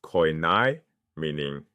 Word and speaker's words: koine: That shared language was *koine*—pronounced koy-NAY—meaning "common."